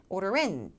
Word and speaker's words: order in: 그래서 뒤쪽에 강세 order in, order in, order in these days.